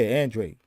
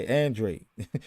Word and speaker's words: Andrade: Actually, it's just like it's spelled phonetically. Yeah, Andrade. Yeah, I heard him say it. So yeah, Andrade.